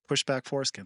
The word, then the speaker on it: PSHDBKFORSKN: spell it out and then I'm going to pronounce it. PSHDBKFORSKN. Pushback Foreskin.